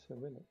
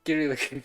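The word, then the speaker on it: Cyrillic: Cerillic. Cerillic. I mean, but like in Latin C is usually pronounced as key. No, cerillic. Cerillic. I'm going to call I'm going to keep calling it keric.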